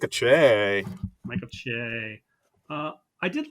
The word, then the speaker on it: Che: Weekend update, or weekend update, if I pronounced that correctly, uh, with Colin Jost and Michael Che. Like a Che.